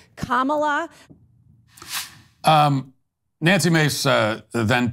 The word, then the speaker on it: Kamala: say her name wrong it's pronounced Kamala not Kamala as a subtle form